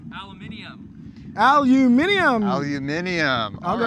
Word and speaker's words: aluminium: Joe Crawford says it's pronounced aluminium.